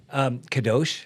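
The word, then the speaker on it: קדוש: How do you pronounce it? Kadosh.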